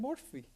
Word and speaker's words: Murphy: your last name and she said morphe I said what Murphy see see Murphy he very close most of the way that the Irish pronounce Murphy now so I said